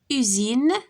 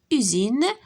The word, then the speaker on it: usine: Entre deux voyelles, la lettre S se prononce Z. Exemple, usine, هيا S ما بين U و I, usine, marchandise, fraise.